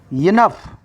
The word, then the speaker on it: enough: It is a phonetic script. Second syllable should be stressed. Enough.